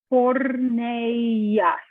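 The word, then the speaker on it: πορνείας: So this sounds like phonetically porneas.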